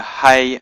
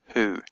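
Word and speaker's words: היא: Herrick at the bottom so you know to pronounce it he and not who you have to look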